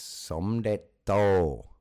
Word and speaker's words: Somdet To: Yeah, it's Somdet To.